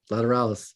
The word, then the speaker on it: Lateralus: Salival 1999, and Lateralus, I can actually say 2001. Lateralus. Jeez. Tool never makes it easy. They don't make Lateralus. They don't. Lateralus. That's the way Maynard says it.